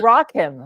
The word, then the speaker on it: Rakim: playone mispronouncing my name his name is Rakim Ro not Rakim raim mayor um so like rock him like rock like rock